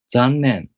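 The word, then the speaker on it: 残念: Make sure to pronounce n long enough, like you pronounce other characters. 残念。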